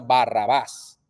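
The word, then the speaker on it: Barrabás: hebreo al español que el nombre se pronuncia Barrabaz.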